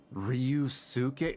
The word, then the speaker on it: Ryusuke: His name, no, it's pronounced Ryusuke. It's gotta be. It's not Ryusuke, it's Ryusuke. So, this lady who bears her name. It's like saying, you know, Sasuke instead of Sasuke.